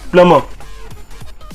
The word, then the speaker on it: plumber: So it's plumber, and its pronunciation is PLUH hyphen MUH. So it's plumber.